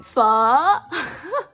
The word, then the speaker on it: pho: Yes, that's the proper way of saying it. Say it like you're asking a question. Pho.